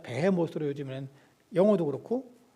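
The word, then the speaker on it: 베헤못: 동물인지 알 수 없으니 그냥 히브리어 원 발음 그대로 그냥 배해 모으로 요즘에는 영어도 그렇고 어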